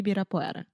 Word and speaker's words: Ibirapuera: Ibirapuera. I can never pronounce this. Ibirapuera. Ibirapuera. Isso, Parque Ibirapuera.